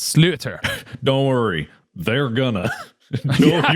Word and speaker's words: sliotar: So it's spelled Sliotar, but I looked up the pronunciation because I didn't want to make people mad at me, but it's slaughter.